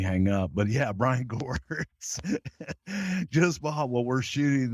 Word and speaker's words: Gewirtz: Ed Koskey and Brian Gewitz don't have anything for him. Gewirtz.